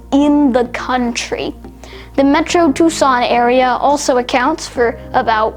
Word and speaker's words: Tucson: largest metropolitan areas in the country the metro tucson area also accounts for about 1 million people and yes it is pronounced tucson very interesting now owing to the